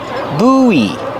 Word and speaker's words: buoy: it's called a buoy pronunciation use a long ooh like food ooh buoy and then the long e like green beans and Link the vowels when you link the